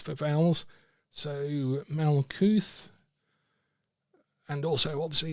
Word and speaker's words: Malkuth: So Malkuth, and also obviously it's transliterated into English characters. So it's Mem, Lamed, Kaf, Vowel, Tau. And in this case, Tau is at the end, so it's pronounced Malkuth.